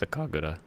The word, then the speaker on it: sakagura: But if it's Japanese, it's Sakagura.